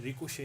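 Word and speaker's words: ricochet: अब आप वापस से ऊपर के वर्ड को देखें तो यह फ्रेंच वर्ड है। यह रिकुशे है। यह टी साइलेंट है।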